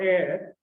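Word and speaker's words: heir: or less same but the hair is pronounced a little differently but h e i r air and a ir air are indeed similarly pronounced for different spelling so what does that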